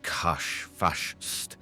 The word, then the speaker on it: Kash Fash: is difficult to verbalize Kash fash pronounced throaty Kash fash I usually called him